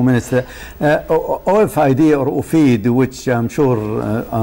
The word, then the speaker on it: OFID: That's why I pronounce it Ofid, not Ofid, because, you know, it gives that meaning.